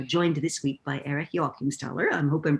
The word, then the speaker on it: Joachimsthaler: to be uh joined this week by eric jockenstaller i hope i'm pronouncing that properly you do my parents are